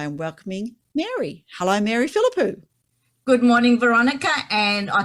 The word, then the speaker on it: Philippou: country and i am welcoming mary hello mary philippou good morning veronica and i congratulate you on pronouncing my surname perfectly not many can do